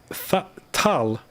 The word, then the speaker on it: Tal: Fal is pronounced fal. Tal is pronounced tal.